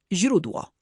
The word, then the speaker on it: źródło: A teraz źródło. Źródło. Prawie. Pamiętaj, że zi, miękkie, jest bardzo delikatne. Język musi być przy podniebieniu.